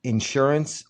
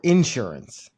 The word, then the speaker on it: insurance: commercials is how about insurance or insurance? Insurance. Insurance where they put the emphasis on in on in insurance.